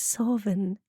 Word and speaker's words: Samhain: That is Samhain. Yes, that is the pronunciation.